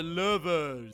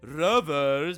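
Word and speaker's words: Lovers: small fan called the Louisville some people pronounce it Rover's but they're clearly wrong and this really tiny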